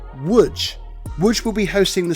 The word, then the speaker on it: Łódź: Although it's spelt Lodz, it's actually pronounced Łódź.